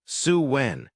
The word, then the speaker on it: Samhain: They celebrated sin, pronounced Suwen, which marked the Celtic New Year and meant summer's end.